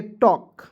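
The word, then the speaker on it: talk: तो ए का उच्चारण नहीं करेंगे ए का उच्चारण कर लेंगे सु हो जाएगा टी का ट suit T एच आई एन के तो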